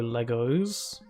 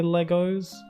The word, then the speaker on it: Lego: Like how some people pronounce like plural of Lego Legos, even though I'm pretty positive that it's Lego. When referring to multiple Lego, it's just Lego. But some people say Legos, and I'm not like